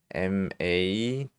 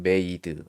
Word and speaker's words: made: made 자 이렇게 했죠 그러면 이건 어떻게 읽어요 이것도 뒤에 2가 왔죠 그러면 앞에 있는이 모음의 발음이 어떻게 되냐면 알파벳 그대로 발음을 한다고 했어요 m은 뭐예요 미음이죠 a는 a 그대로 발음하고 그리고 D d인데이는 발음이 안 된다 그랬어요 d니까 D 이렇게 그럼 메이드 이렇게 바르면 되는 거예요 메이드 이건 무슨